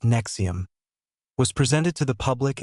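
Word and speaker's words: NXIVM: Nexom, pronounced Nexom, was presented to the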